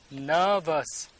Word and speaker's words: nervous: Here also nervous. Nervous. R is not sounding here.